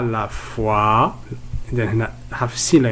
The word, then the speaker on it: foi: Alors le dernier son, nous avons foi. O plus I, on les prononce wa.